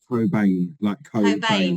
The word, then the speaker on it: Cobain: how do you say your surname is it Coban Co say that again Coan like right okay yeah it is it's on